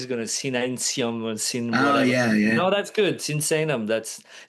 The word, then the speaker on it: Sinsaenum: You know him from Dragon Forest and Creator, but also we're going to talk about the new album in Devastation from Sensan.